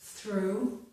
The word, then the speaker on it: through: We do not pronounce the GH in this word, so this is through.